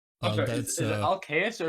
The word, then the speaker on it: Alcaeus: I'm sorry, That's is it Alcaeus or is it Alcaeus? Because Alcaeus. I might be. It's a Alcaeus. Latin name.